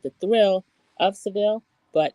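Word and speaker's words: Sevilla: It's called the thrill of Seville, but it's she's saying it's Seeilia. So, the thrill of Sevilia.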